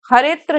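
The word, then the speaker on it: हरेऽत्र: यहाँ उच्चारण के समय हरेत्र ही कहा जाता है, अवग्रह का उच्चारण नहीं होता है, तो इसको उच्चारण में हरित्र कहेंगे।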